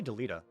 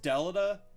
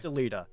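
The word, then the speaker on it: Delita: how do you say uh delta i say deleta me too okay everybody else everybody else says deleda like everybody i know i've never heard deleted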